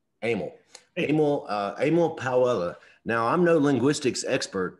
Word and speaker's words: Powella: How you pronounce it still, Powell? Powella. Yeah, it's Powella.